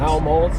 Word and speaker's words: Helmholtz: Helmholtz, yeah. I gave up on pronouncing it.